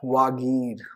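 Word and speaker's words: Vagir: V-A-G-I-R, Wagir, Wagir hoga, haan, Wagir. Hindi ko aise, Hindi wale shabd English mein pronunciation mein confusion hoti hai.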